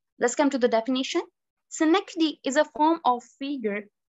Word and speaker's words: synecdoche: मैंने पहले भी बताया कि इसको गलत प्रोनाउंसिएट कर देते हैं, साइनाकोडी पढ़ते हैं बहुत से लोग, which is wrong. In American और British accent में दोनों में ही इसको synecdoche पढ़ा जाता है.